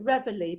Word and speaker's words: reveille: we're gonna pronounce it revelry because that's how they pronounced it in the forces at the time so a blowing reveille